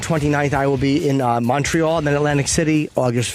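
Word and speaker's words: Montréal: Montreal is how it's pronounced. Yes, Montreal.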